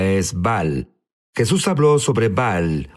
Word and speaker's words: Baal: bal Jesús habló sobre bal unos dicen bal baal es la pronunciación correcta correcto pero sabes qué